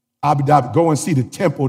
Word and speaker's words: Abu Dhabi: Abu Dhabi.